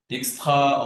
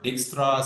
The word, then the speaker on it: Dijkstra: It's called Dijkstra or Dijkstra. Some people call it Dijkstra, depends on the pronunciation.